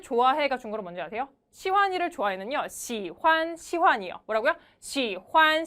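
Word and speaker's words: 喜欢: 누구를 좋아한대요 저는 시완이를 정말 좋아해요 그래서 중국어로 시환니 좋아해가 중국어로 뭔지 아세요 시환이 좋아해는 시환 시환이 뭐라고요 시환 시환 이래요 뭐래요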